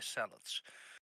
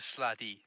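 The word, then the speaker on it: slaadi: The quintessential aberrations are, I don't know how to pronounce that, beholders, mind flayers, and the salads. Salads? Yeah, the sladi. Don't call them salads.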